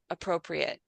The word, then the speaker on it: appropriate: The only pronunciation issue I heard besides the spreaded was appropriate. It should be appropriate, not eight.